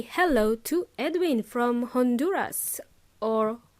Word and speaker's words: Honduras: hello to Edwin from Honduras or Honduras in Spanish because in English we pronounce the letter H thank you for your